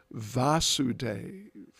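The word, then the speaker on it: Vāsudeva: In this case, the father is Vasudeva with a short A at the beginning, and Krishna as the son, but given basically the same name, is Vasudeva with a long A at the beginning.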